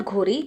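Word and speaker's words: Ghori: After the death of Mohammad घोरी, जब मोहम्मद घोरी की death हुई, मोहम्मद घोरी को बहुत लोग गोरी भी बोलते हैं, तो भाई प्रोनाउंसिएशन से फ़र्क नहीं पड़ता, आप अपने टॉपिक में फिक्स्ड ऑन रहना, सेम इंसान ही है।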